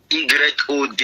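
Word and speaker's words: יוד: Y est Yod. Yod c'est Y-O-D, Yod.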